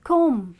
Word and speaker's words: comb: say I decided to comb my hair confusing comb comb well let me tell you English is pretty confusing and there are a lot of letters which are actually the silent letters that's what we're going